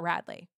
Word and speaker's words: Radley: Like, no, it sounds like Bradley, but it's just an R, Radley.